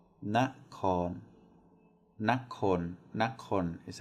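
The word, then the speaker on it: นคร: Nakon, nakon is how it's pronounced.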